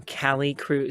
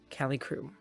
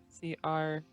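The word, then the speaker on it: Calicroup: a door marked um cali crew c-a-l-i-c-r-o-u-p cali crew c-r-o-u-p it's not croup it's crew but that's how it's spelled my microphone's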